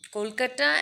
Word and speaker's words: Kolkata: in Calcutta and in Kolkata and Delhi is called Metro so the pronunciation is Kolkata I just said it wrong so sorry so the